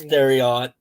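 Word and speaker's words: Thieriot: Max the theot theot theot it's it's it's theot I I did look up the pronunciation for it um there was a few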